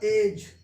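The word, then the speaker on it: edge: इसका उच्चारण क्या होगा, एज।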